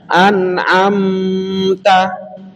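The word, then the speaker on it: أنعمت: Ini di surah Al-Fatihah juga ada an-am-ta. Nah, mimnya ini bertemu dengan ta, maka membacanya idhar jelas. Jangan ditahan an-am-ta. Nah, ini nanti jadi berbeda.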